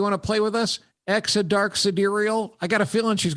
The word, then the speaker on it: Exa Dark Sidereal: Exodark sidereal. Exodark sidereal. So in other words, when she's on the playground, the other kids would have to go, hey, do you want to play with us? Exodark sidereal.